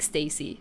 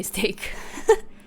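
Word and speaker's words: STAYC: ] 80s light stick it's pronounced like Stacy okay cool that's what that's what I've been saying sometimes I do say steak um I feel like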